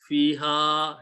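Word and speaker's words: فيها: Hamza pushes a mad on the previous letter. So ha, fiha has to be pronounced with a mad.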